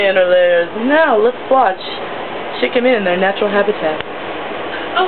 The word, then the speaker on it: Chic Gamine: Chic Gamine.